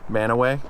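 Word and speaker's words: Mantua: work was the manaway reservoir yeah that that's manaway is how you say that apparently the uh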